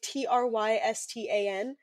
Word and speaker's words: Tristan: So, so I have a friend whose name is Tristan, like Trystan, Tristan. okay. Um, that is how you say his name.